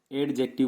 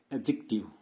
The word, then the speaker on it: adjective: क्योंकि होता क्या है, ए और जे, if there is अ spelling and there is अ letter D between ए एंड J, letter D remain silent. Letter D जो रहता है वो हमेशा साइलेंट रहता है।